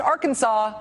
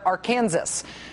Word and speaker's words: Arkansas: Sandy tells us, quote, "If you live in Kansas, the R Kansas River and R Kansas City are not pronounced Arkansas, but rather our Kansas."